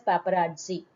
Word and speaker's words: paparazzi: Sometimes these they are called as paparazzi. When there is two Z, students, t sound has to be pronounced, not G, it is Z. Paparazzi.